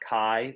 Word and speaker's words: chi: let's look at X that's pronounced CAI Zhi chi-square goodness-of-fit test